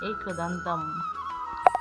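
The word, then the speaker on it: একদন্তম্: দেখুন লিখা আছে একাদন্তান এখানে দেখুন অনুস্বার আছে আমরা জানি অনুস্বারের শুদ্ধ সংস্কৃত উচ্চারণ হবে অসন্ত যুক্ত মর্দান্তাম অনুস্বারের জায়গায় হবে হসন্ত যুক্ত ম তাহলে এর উচ্চারণ হবে একদান্তাম দেখুন এখানে মহাকায়ন আছে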